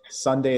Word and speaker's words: Sundae: sunday school and sunday flowers by the way sunday is spelled s-u-n-d-a-e and they provide you with high-end